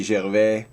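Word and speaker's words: Gervais: already I mean Ricky Jer and yes I pronounce his name in French because uh his father was a French Canadian so this means that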